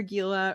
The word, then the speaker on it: Gila: I'm Dr. Gila, rhymes with tequila, and I'm so excited you're here.